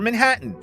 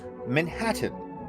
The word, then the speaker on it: Manhattan: Uh, is there a correct pronunciation for Manhattan? Manhattan. Manhattan. Manhattan. Manhattan is derived from the Native American word manhata which means land of many hills. So I call it manahhata.